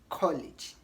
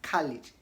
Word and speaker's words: college: Now, lastly, in British English, they pronounce College as college. In American English as college.